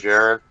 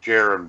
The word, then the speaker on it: Jaron: Hey, It's- Jared. It's pronounced Jaron, by the way.